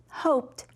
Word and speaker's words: hoped: a long vowel sound now hoped has that t sound hoped i hoped you would